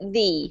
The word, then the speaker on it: the: a note don't forget when the comes before a word with a vowel we pronounce it the so the earth that's better yep and